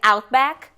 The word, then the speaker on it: Outback: Tudo bem o Outback a gente dá essa portuguesa a Dinha em inglês Outback Outback que é uma região